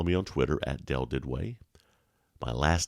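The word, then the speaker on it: Duduit: discretion can follow me on twitter at dell did way my last name is spelled d-u-d-u-i-t first name is dell d-e-l so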